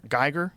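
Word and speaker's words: Giger: Geiger.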